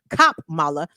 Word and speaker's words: Kamala: I know they're big on pronouncing her name correctly. Let me say it correctly. Kamala.